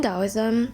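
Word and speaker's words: Taoism: with this book so owsm which is spelled t a o i SM or pronounce with the D in dosm the da translates to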